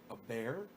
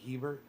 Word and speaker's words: Hebert: to be a butt my last name is pronounced a a bear a bear really i'm calling you hebert hebert hebbert heber ebert